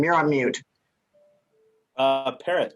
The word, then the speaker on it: Parrot: Parrot, like the bird. It's spelled Parrot. different, but it's pronounced parrot.